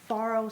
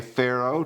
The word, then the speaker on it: farro: today today we are making something I call Farro Salad with dried cranberries some people say Pharaoh tomato tomato but the correct pronunciation actually went and looked it up is